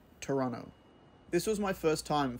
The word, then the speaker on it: Toronto: hello and welcome to Toronto or as the locals say Toronto this was my first time flying to the